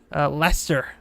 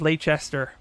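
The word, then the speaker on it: Leicester: you I remember you correcting me with uh Lester I used to pronounce it leester but I remembered it I remembered it so yeah thank you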